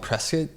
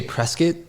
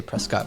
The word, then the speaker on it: Prescott: I grew up in a town called Prescuit. Uh, or well, we say Prescuit. That's like the the local pronunciation. It's spelled Prescott, but if you say Prescott, we know you're not from Prescuit.